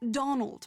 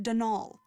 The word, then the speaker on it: Donal: caretaker Donald Delaney not Donald mind you there's no D at the end so it's pronounced danal that's the way you're